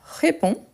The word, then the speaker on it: réponds: conjugue on a je réponds je réponds vous voyez que le verbe il finit en DS mais en ne les prononce pas donc j'ai réponds surtout